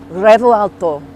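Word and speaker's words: Revuelto: to the brand new revolto that's kind of how you say it but not really you're meant to roll the r but I can't roll ours people are like literally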